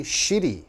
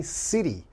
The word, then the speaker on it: city: say shitty okay you don't want to say shitty it's only city now shitty in english is a bad word okay shitty means something is not good something is terrible for example if you said this restaurant is shitty that means it's this restaurant is bad it's terrible so you have to be careful you have to say city city like seoul city busan city don't say shitty okay the foreigner the